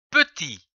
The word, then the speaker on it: petit: prononcer dans un mot comme par exemple le mot petit P e P t I t ti petit qui peut être prononcé petit ou petit dans le son e